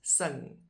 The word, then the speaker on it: sing: And then the other one is sing, which is spelled exactly like the English sing, but just pronounced differently.